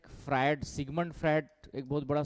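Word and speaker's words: Freud: इसी को थोड़ा सा जैसे होता क्या है फ्राइड सिगमंड फ्राइट एक बहुत बड़ा साइकोलॉजिस्ट है सिगमंड फ्रा फ्राइड फ्राइड फ्राइड स्पेलिंग देखना फ्राइड की स्पेलिंग क्या होगा क्या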